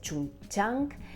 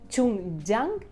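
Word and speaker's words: Jung Chang: XX en China la autora es china es chun chang bu me cuesta un montón encima de que me cuesta muchísimo pronunciar ya lo que me faltaba era el chino bueno la autora es chun jang y el libro se llama cisnes salvajes eh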